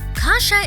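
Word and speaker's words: kasza: of Kasha is kasha which is pronounced the same but spelled with a z instead of an H polish Kasha is made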